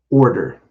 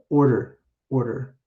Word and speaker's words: order: der i do the order order hmm it's a light t sound kind of like this so we'd